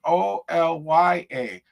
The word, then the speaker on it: Olya: Not spelled Olga, but it's pronounced Olya.